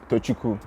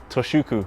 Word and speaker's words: Tochukwu: to pronounce it so it's tchuku tchuku yes I got it right that's correct but people call you